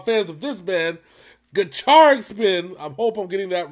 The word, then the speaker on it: Gacharic Spin: of this man the charge spin i hope i'm getting that right apparently that's they said that pronounced the child like a cha-cha-cha so i can charge